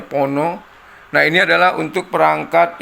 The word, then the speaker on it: Phono: tuner lalu ada Pon Pono ini bacanya Pono nah ini adalah untuk